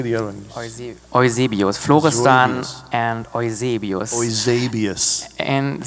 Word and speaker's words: Eusebius: Eusebius.